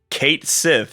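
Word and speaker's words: Cait Sith: Fantasy 7 rebirth moment apparently it's Kate Sith so it is who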